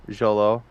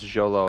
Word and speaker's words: Xolo: I like that kid Xolo did I say that right it's Jolo I think I think that's how it's pronounced yeah it's spelled x-o-l-o